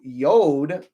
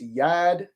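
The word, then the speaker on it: יוד: And then we have the 10th which is pronounced in modern Hebrew yod but in ancient is yad yad uh which is the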